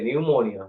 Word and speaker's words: pneumonia: also start from P but p is silent like psychology pneumonia you a lot of